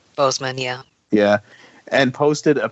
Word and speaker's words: Boseman: chadwick boss boseman am i saying it right boseman yeah yeah and posted a picture from said